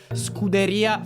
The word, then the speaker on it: Scuderia: of fan development for Scuderia Ferrari HP. Your pronunciation is it's strongly American. It's more Scuderia Ferrari. I'm still working on rolling my Rs.